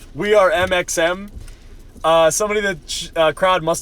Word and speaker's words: MXM: Yeah, the X is silent. So it's funny when Brennan said we are MXM, somebody in the crowd